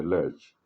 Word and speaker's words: lurch: In case I don't pronounce it well, it's Lurch. Sometimes uh, I make a whole lot of mistakes. If you wanted to say lurk, I wanted to say lurch.